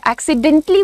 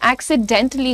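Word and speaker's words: accidentally: एक्सीडेंटली बोलते भी नहीं है। एक्सीडेंटली होता है। एक्सीडेंटली। तो टी के बाद एक हल्का पॉज है। ए का साउंड नहीं है पर पॉज जरूर है।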